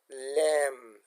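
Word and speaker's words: lamb: د کلمې په پای کې د بی توری له ام وروسته چوپ پاتې کیږي، لکه لم.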